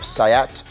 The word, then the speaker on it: SEAT: Cupra is uh uh the performance brand of sayat which is spelled seat s-e-a-t um which is actually owned